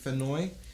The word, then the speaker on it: Fennoy: think that's pronounced Dave Fennoy.